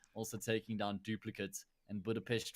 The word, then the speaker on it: Budapest: yep it also met just so you know it's actually pronounced Budapest always good rain waker